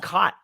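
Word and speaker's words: khat: a shrub from Africa I think it's pronounced cot yeah yeah it's a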